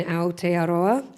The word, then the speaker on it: Aotearoa: from conferences, club nights like Box Oceania in Aotearoa. Hey, you pronounced it right.